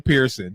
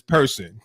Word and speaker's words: Person: I used to say Kim Pearson, but it's Person.